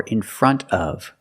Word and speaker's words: in front of: The N T in front is between vowels. So you don't really hear the T. You hear in front of in front of And because you have a consonant after the F in of, you don't have to pronounce that either.